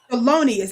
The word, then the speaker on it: Thelonious: Help me pronounce his name right. Thelonious Monk. Thelonious, I keep messing it up.